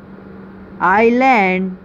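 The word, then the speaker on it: island: hem okay अब ऐसे word जिसमें अल्फाबेट एस साइलेंट हो आइल आइल आइलैंड आइलैंड ओके तो ये था आज का हमारा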